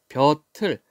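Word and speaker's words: 볕을: 다만 벼틀, 자, 뜻이 없는 모음이 왔어요. 받침을 뒤로 넘겨서 발음.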